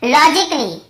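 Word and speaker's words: logically: और देखिए फिजिकली, हम क्या पढ़ते हैं, फिजिकली, ये देखिए फिजिकली, तो यहाँ पर भी ए का उच्चारण नहीं हो रहा है। और देखिए लॉजिकली, लॉजिकली, यहाँ पर भी ए को हम नहीं पढ़ रहे हैं।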